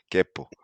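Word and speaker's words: quepo: Kepo. What is it? Kepo. Capo? Yeah. How you spell it? Let me write it to you. With Q. Like, oh, like the town in Costa Rica.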